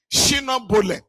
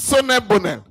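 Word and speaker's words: Solel Boneh: In my own part of the country, they call them Shino Bole. Now, actually, we later learned the company was, the name is Sonne Bonel.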